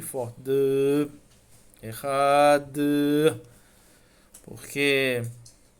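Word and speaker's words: אחד: na última palavra, Ehad, nós pronunciamos o Ehad com uma Kavaná, isso sem falar do tipo de pronúncia que a gente tem que fazer em relação ao tempo de prolongamento entre o Aleph até o Dalet, né? E finalizar com um Dalet forte, um Dalet mudo e forte.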